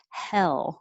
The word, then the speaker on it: hell: never rises like hay it stays flatter hell and just comes up in the front for the l hell and 28 your tongue